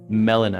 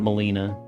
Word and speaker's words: Melina: It's Melina. Melina, not Molina.